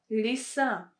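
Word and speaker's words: лиса: you can see that ye is not stressed that is why it's pronounced as ee lisa lisa lisa next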